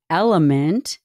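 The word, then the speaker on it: LMNT: That's pronounced Element, spelled L-M-N-T.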